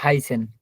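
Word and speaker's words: heißen: যে শব্দের শুরুতে বা মাঝে যখন এ আই থাকে তাহলে আয়ের মতো উচ্চারণ হবে। এই দেখুন উদাহরণ সহ দেওয়া আছে। হাইসেন, আইস, হাইসেন এই জি।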